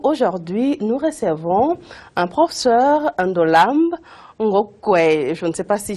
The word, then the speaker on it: Ndolamb Ngokwey: Ndolambe Ngokwe, c'est trop difficile à prononcer, ça vient d'où? Pourtant, vous le prononcez si bien, madame. En fait, c'est Ndolambe Ngokwe.